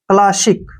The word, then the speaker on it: classic: Next word है CLASSIC, ठीक है ना, सी का उच्चारण कै हो गया, LA का उच्चारण ला हो गया, डबल एस का से हो गया, और आई का ई हो गया, और सी का उच्चारण कै हो गया। क्लासिक, क्या पढ़ेंगे इसको? क्लासिक, क्लासिक होता है पुरानी